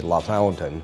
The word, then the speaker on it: LaFontaine: The town I grew up in is spelled LaFontaine, like Pat LaFontaine, but the Hoosiers in us all say La Fountain, on State Road 15, North Central Indiana.